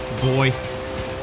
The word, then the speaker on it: buoy: I looked it up on Google, and it's weird how there's an American and an English pronunciation for the word buoy. It's either buoy or boy.